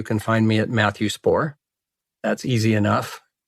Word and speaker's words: Spaur: You can find me at Matthew Spaur. That's easy enough. It's not that easy. It's spelled S-P-A-U-R. Okay. Short but weird, I tell people. Yeah. But it's just LinkedIn/in/Matthew Spaur.